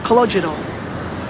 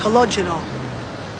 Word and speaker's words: Calogero: Me, I'm Calogero. Who? Calogero. What kind of name is that? It's Italian, but actually it's Sicilian.